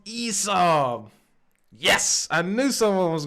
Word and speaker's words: ESAB: But the best hood I got is a ESAB fixed shade.